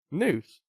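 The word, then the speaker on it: Nuse: So News. It's like Muse's Angst. Yeah, it's like Muse, but with an N.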